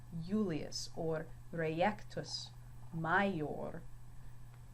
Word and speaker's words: Julius: When his name's written in Latin, it is not pronounced Julius, but Julius. So the I has more of a Y sound here. Julius, or reiectus, major.